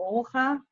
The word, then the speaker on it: Olga: Thank you, Dan and Olga, or Olga, like we pronounce it in Holland.